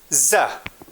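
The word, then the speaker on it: زه: Now, the first subject pronoun in Pashto, it is za. Za means in English I. To pronounce it, its transliteration is Z-A-H.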